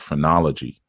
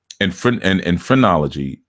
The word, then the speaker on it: phrenology: And phrenology is PHR. It's P spelled with a P, not with a F.